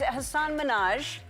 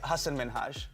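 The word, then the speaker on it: Hasan Minhaj: And it's Hassan Minhaj. No. Yes. No. Really? Well, my name is Hassan Minhaj. Oh. How do you not pronounce Hassan? Try it. All right. Hassan Minhaj. No, that's not.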